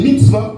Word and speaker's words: mitzvah: Ensuite, on a dit les commandements en hébreu, c'est les mitzvahs. Mitzvah, ça s'écrit M-I-T-S-V-A, qui veut dire ordonner ou donner un ordre.